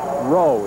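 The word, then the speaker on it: Raugh: Number 85, Mark Rowe, it's spelled R-A-U-G-H, and he is their top receiver.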